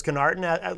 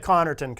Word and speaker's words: Connerton: get a pass because kenarten like I was saying before the show is the most common mispronunciation of my last name so it's kind of like the you know if if you don't get if you don't get Connerton Norton is acceptable I'll get it once